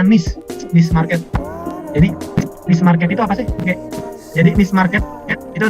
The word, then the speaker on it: niche: Bacanya niche market.